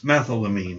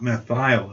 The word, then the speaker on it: methylamine: name of that compound it's methylamine not meth aisle I mean I don't